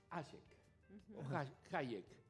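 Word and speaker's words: Hayek: llama o se llamaba friederich ek si lo vamos a pronunciar en alemán él también eraa austríaco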